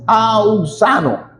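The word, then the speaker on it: αὐξάνω: Es la auxano, así, auxano. Crecer, auxano, crecimiento, desarrollo, aumento cada día, eso es crecer.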